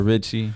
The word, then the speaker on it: Rxchy: No, my nickname has always been Ricky, but I kind of turned into Richie for like my artist name.